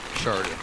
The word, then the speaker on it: Shaurya: Sharia. Sharia. Yeah. Like S-H-A... S-H-A... Sean. Sharia. S-H-A-R-Y-A, like that. Sharia.